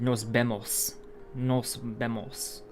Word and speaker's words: nos vemos: nos vemos see you nos vemos uh my high school spanish class remember the vs could were pronounced bees in spain so you would have nos bemos um so yeah i